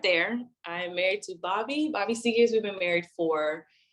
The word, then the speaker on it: Seagears: We're talking to Seegers. Seagears? How do you say See- it? Yeah, Seagears.